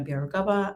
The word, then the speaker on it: Byarugaba: doing that hello everyone my name is bieragava i am the employer brand lead and diversity